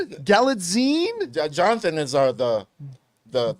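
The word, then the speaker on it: Gyllenhaal: I I pronounce it galad galine Jonathan is our the the the grammar right here the grammar man I think it's galine like magazine okay galine there we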